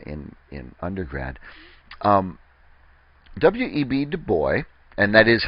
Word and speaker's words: Du Bois: reading in uh in in undergrad um W.E.B Du boy and that is how he pronounced it so I um uh it's not